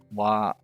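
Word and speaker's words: は: It looks like, but as far as the hiragana is concerned, the wa is actually ha.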